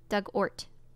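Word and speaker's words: Dugort: hubs on the island pronunciation Doug of the past ort like hurt oh Hort Doug ort Doug ort okay a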